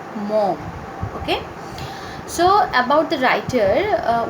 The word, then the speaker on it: Maugham: Okay, so please make sure while you pronounce the name of the writer, it is Maugham.